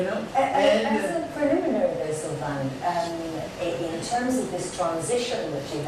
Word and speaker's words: Silvain: In French, you pronounce it Silvain, so they come to the idea to make Gilbert.